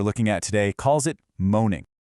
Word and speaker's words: Mōnen: The source material we're looking at today calls it moaning. So monen, that's spelled M O N E N, is a Japanese term for this runaway story.